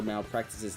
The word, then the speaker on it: Malpractic: Nightmare sent me a little correction for Malpractice's name. Due to character limits, it's spelled like Malpractic, but you're supposed to pronounce it like Malpractice. Imagine if the E is loud.